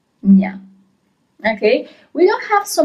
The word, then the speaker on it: gna: G-N-A is gna as a sound, gno, gna.